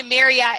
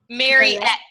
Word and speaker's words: Marette: you say your name Marette what did I say maretta mar mar kind of like Juliet or susette or it Mar Juliet